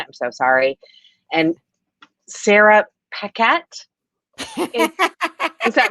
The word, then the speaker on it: Paquette: so sorry, and Sarah Paquette. Is that wrong too? I always say Sarah P because I always say it wrong. Okay. That's our girl Sarah. Yeah. Yeah, Sarah I knew, Paquette.